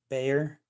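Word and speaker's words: Bexar: Bayer. It is spelled B-E-X-A-R.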